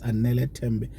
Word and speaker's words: Anele Tembe: Anele Tembe. I think I said it right. It's Anele Tembe.